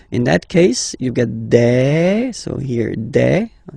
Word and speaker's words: des: All right, here s, you pronounce it like e. Okay, un, une, des.